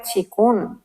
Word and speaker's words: qigong: Y pero se pronuncia chikun.